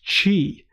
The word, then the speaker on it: Qi: to it as a qui key or something like that it's technically pronounced chi and it's literally literally named after chi what you'd expected what